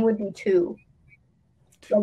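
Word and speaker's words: Thu: my name would be two so my literal name would have been two wait like like tw no like that's how you pronounce it but it would be spelled t-h-u but my would would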